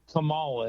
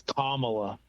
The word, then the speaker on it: Kamala: they got pissy because I said uh Kamala and they said it's Kamala and I go oh okay